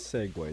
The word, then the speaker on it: segue: it and that felt wrong it it is segue that's how pronounce it really yes okay it is I